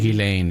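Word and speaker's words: Ghislaine: Gileain is the is the right way to pronounce it.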